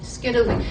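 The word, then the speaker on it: scytale: Skittily, S-K-Y-T-A-L-E, rhymes with Italy.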